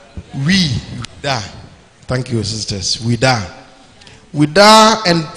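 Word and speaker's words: Ouidah: later in the same year set sail from Juda. How do you pronounce it? Wuda. Wuda.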